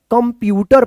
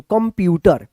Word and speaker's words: कंप्यूटर: अब देखिए यहाँ पे क के ऊपर ए बिंदी है तो कन, कन नहीं होगा, कम होगा, आधा म का उच्चारण कम, आधा प यू ट र, कंप्यूटर पढ़ेंगे इसको, कंप्यूटर, कम। इसको कन मत पढ़िएगा, कंप्यूटर।